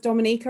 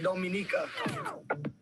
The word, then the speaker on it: Dominica: Okay, boom, we call it Dominica. Yes, the nature isle of the Caribbean. It's rum punch time. Oh, we call it Dominica. It is spelled D-O-M-I-N-I-C-A.